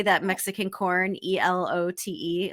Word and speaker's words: elote: or how do you say that mexican corn e-l-o-t-e elote elote and right now right now he has